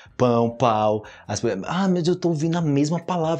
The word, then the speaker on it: pão: falando isso tipo quando eu tô ensinando o pão pau pão pão pão Ai meu Deus eu tô ouvindo